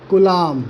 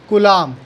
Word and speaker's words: coulomb: इसकी SI unit क्या होती है, तो वो ये हो चाहे ये हो, SI unit is कुलाम। The correct pronunciation is कुलाम। कूलम नहीं होता है, कुलाम होता है, COULOMB।